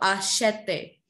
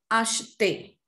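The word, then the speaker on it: achetez: There the pronunciation is not asheton or ashete. It's ashton or ashte.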